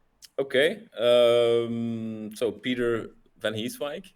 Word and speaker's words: Pieter Vanheeswijck: Um so Peter Vanheeswike uh to say it like this u living in a small city in Flanders.